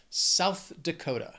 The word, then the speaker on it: South Dakota: This state has four syllables, but the stress is going to be on that second word, Dakota, that second syllable, Dakota, South Dakota.